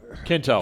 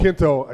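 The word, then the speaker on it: Quinto: you know and Zachary it's Kinto Kinto yeah I always say his name wrong he he addresses him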